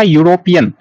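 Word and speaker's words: European: अब नेक्स्ट है आपका यूरोपियन। यूरोपियन में देखिए ई से तो स्टार्ट है, लेकिन इसका उच्चारण यू से हो रहा है शुरू।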